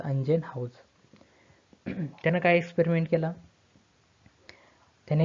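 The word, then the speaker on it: Ingenhousz: हे स्पेलिंग काय आहे, अंजेनहाउज, प्रोनाऊन्सिएशन त्याचं अंजेनहाउज.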